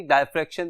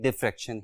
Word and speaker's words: diffraction: हम इसको normally डायफ्रैक्शन भी कहते हैं, लेकिन इसकी सही प्रोनाउंसिएशन डिफ्रैक्शन ही है।